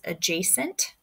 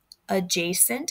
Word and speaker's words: adjacent: kind of new is adjacent adjacent is how you say that they're not adjacent adjacent so that a becomes a long one if they share